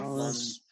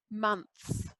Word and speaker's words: months: Months. Months. That's it. Months. Months. Like money. Months. Money. Month. Months.